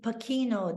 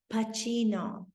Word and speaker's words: Pacino: correctly they weren't saying pakino they weren't saying pasino he strasbord knew to pronounce his name Al Pacino and he felt as